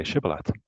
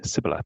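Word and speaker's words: shibboleth: they said all right say shibalat if he said sybil because he could not pronounce the word correctly they seized him and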